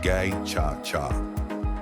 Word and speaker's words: Gacaca: In 2001, the government began implementing a participatory justice system, known as Gacaca, pronounced Gay-Cha-Cha, in order to address the enormous backlog of cases.